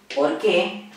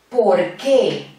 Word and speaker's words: por qué: Esta locución, ¿por qué?